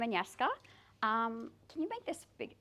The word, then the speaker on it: Anyeska: So I'm just going to remind you all, it's pronounced Anyeska, as it's spelled.